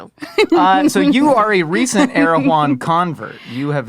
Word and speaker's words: Erewhon: Erewhon. That's just how you pronounce it. Is that how you say it? Erewhon. All the fancy people say Erewhon.